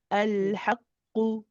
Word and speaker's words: الحق: Just be careful not to extend the haqqu. It's when you say qu, it's only one. Al haqqu.